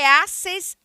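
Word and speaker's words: hacés: Em geral, a última sílaba do voseu é acentuada, já que é uma modificação de vosotros, transformando-se em uma palavra oxítona terminada em S.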